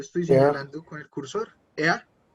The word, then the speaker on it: er: Er. La R ahí es más gutural. Er. Eso. No tan gutural.